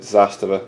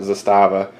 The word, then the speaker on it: Zastava: who gives a damn that is how you pronounce it Zastava not Zastava I know this because